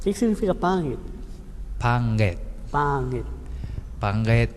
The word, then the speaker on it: pangit: Um exemplo do nga é a palavra pangit. O que significa pangit? Panget. Pangit. Panget é feio. Feio. Pangit. No meio da palavra tá o NG.